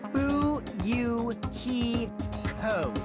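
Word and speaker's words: Fuyuhiko: last name is my first name is pronounced boo you he co i'm still an inexperienced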